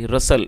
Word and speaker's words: RUSTLE: दोस्तों RUSTLE रसल, इसमें T silent है तो आप इसको सिर्फ रसल पढ़ेंगे क्योंकि टी की प्रोनाउंसिएशन नहीं होगी जब टी साइलेंट है।